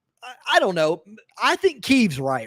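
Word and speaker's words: Kyiv: It's a woman who is bunkered down with her children in Kiev, and she says Kiev every time. So I know it's pronounced Kiev because she's Ukrainian and she lives in Kiev.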